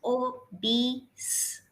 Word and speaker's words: obese: Obese. Obese. Ah. E sound should be highlighted. Obese.